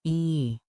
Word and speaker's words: I: Danish, I for the plural you is written I and sounds like e.